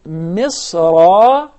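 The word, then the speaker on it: مصرا: So if I stop at the word misra, then I change the tanween into alif maddiyah. Yes. But in case of connecting the word to the next one, I skip this huq, and yes, there is no mad right there.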